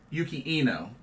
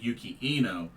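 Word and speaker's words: Yuki Ino: uh oh that's uh Yuki Yuki Eno I please forgive me I said his name wrong but dice G Sasaki defeated yukino to advance to the to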